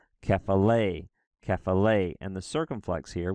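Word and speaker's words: κεφαλή: Or for the word head here, kephale, it's kephale.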